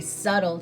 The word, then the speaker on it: subtle: what we call a subtle change and i love to talk about that word because it's spelled really funny subtle has a silent b but subtle means that